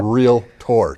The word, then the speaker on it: realtor: And I say that as 2 syllables because half of my industry says realtor. Okay. And I tell you, it's one thing that bugs the heck out of me because no one rides their Trackator to their Docator, okay? It's a realtor, 2 syllables.